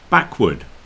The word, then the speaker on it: backward: in toward toward or backward backward you see the pronunciation of it changes a bit in backward we just say wood backward forward some people